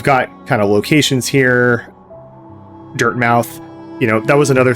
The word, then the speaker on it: Dirtmouth: text came up, and I called it Dartmouth, which, you know, there are cities called Dartmouth and spelled D-A-R-T-M-O-U-T-H. And of course there's Plymouth, which ends in M-O-U-T-H and is pronounced Plymouth. But, you know, now that I'm looking at this, I think this is actually pronounced Dirtmouth, and I think that makes more sense because this city or